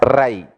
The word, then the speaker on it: Rai: You should pronounce as Rai, riches.